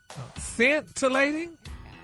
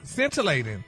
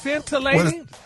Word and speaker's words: scintillating: Oh, so it's scentilating. Well, it say it say pronounced scintillating. S E I see I thought it was scam. No, the C is No, the C is silent.